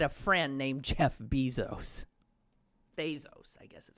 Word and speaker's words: Bezos: Bezos, I guess is how he pronounces it.